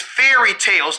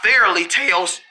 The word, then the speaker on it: fairy tales: a good fairly tale it's not fairly it's fairy tales not fairly Tales well I say it